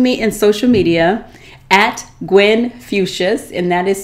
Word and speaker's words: Gwen Fuchsius: At Gwen Fuchsius, and that is spelled G-W-E-N-F as in flower, as in Christmas, I-U-S, Gwen Fuchsius, like Confucius, on Instagram, Facebook, and Twitter.